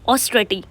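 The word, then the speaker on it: austerity: ये जो ए डब्ल्यू है मतलब ओ है ये स्टार्टिंग का ओ इसके ऊपर फोर्स नहीं डालना ऑस्ट्रेटी राइट इस तरह से इसको प्रोनाउंस करना है जो वर्ड है इसका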